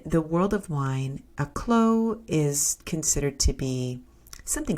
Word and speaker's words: Clos: this champagne is the clo piece now in France and in particular in French wines the term CL which is spelled Clos I'll just hold the